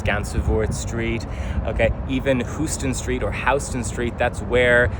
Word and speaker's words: Houston: But the named streets only exist below Houston or Houston Street, as it's now pronounced.